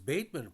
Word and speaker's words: Bateman: good player is that his name sounded like Batman it was baitman pronounced but it sounded like